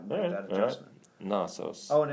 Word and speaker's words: Knossos: But I have Gnosis up, so I think let's hear the pronunciation before let's turn the volume down. Knossos.